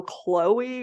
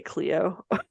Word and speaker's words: Chloe: of lore um and her name is spelled c-h-l-o-e and for some reason I keep wanting to say Cleo but it's Chloe um because that had